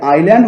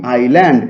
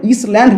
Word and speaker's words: island: এই যে আইল্যান্ড মানে হচ্ছে দ্বীপ, ISLAND, আইল্যান্ড, এটা মানে হচ্ছে বাংলা মানে হচ্ছে দ্বীপ। দেখো এখানে এস, আইল্যান্ড শব্দের মধ্যে কিন্তু এস এর উচ্চারণটা নেই, তাহলে ইসল্যান্ড নয়, কিন্তু এটা হচ্ছে